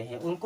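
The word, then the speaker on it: how: क्या पढ़ते हैं हाउ यानी कि आऊ की तरह इसका उच्चारण हो रहा है अब ए डल एल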